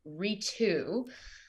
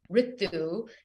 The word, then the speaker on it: Ritu: And after decades and decades of having people anglicize my name and pronounce my name as Ritu, at the age of 30, I decided that I'm going to stand in my power, claim my belonging as it relates to my name, and have people pronounce it the proper way, which is Ritu.